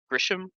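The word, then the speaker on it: Ghirahim: like in many ways, Grisham, or how do you pronounce his name? Correct. Girahim. Yeah. Or yeah, Yeah. I say Girahim. Yeah. Yep. Girahim? Yeah. Yeah, Yeah, there's no S.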